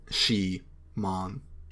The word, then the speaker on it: Shimon: in making this profile my name is shimon pronounced she mon can i ask which